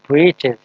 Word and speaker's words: breeches: Actual word is breeches. Or breeches means short trousers. The writer here spells it for fun to rhyme with the word witches.